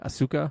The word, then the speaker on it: Asuka: yes yes boiler alerts so after Japanese superstar Asuka is how you say Asuka sure I saw her live when they came